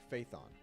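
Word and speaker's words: Phaethon: that runs under the proxy name faithon they are always I hate that that's how it's pronounced under the proxy name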